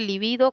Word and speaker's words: libido: Existe también, este es lívido, que es esdrújula, pero también existe libido como grave, y esa se escribe con B grande o B normal, como lo queramos llamar, ¿no?